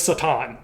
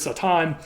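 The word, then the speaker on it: שָׂטָן: here and that was Satan I'm I'm I'm pronouncing it that way on purpose that was the original Hebrew pronunciation of this word Satan um and this Hebrew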